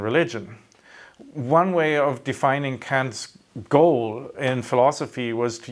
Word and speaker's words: Kant: So today we're doing a short introductory video on Kant. I have to make sure to pronounce it not in the German way.